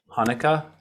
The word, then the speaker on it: Hanukkah: can you help me to type that out hanukkah yeah sure okay i guess it does like that they sometimes spell it with the ch2 yeah but the ch